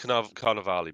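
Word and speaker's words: Carnevale: just Carnival probably no it is pronounced carnavali because it's got that extra re on the end ah well there you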